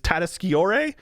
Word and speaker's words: Tatasciore: Is Tatasciore? You nailed it.